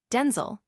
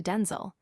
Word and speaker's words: Denzel: pronounce his first name, Denel, is in fact not the original or intended way. He clarified that the authentic pronunciation is closer to Denel with a distinct shorter I sound, a subtle yet significant